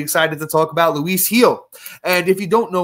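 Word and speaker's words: Gil: to talk about Luis Heel. And if you don't know Luis Heel, that last name, if you're not watching on uh YouTube, is spelled G I L but is pronounced Heel.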